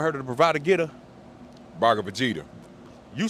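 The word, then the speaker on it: Bhagavad Gita: of the bravado geta bar Vegeta you say it like that the bar of Vegeta that's how you say it I I say bravado geta but yeah same thing so I read this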